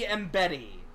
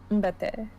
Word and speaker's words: Mbete: And maybe Mbetty. Was that right? It'd be Te. Mbete.